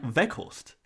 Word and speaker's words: Weghorst: part of India, but the way you pronounce the W sound is more like a V. So, like Weghorst, for example.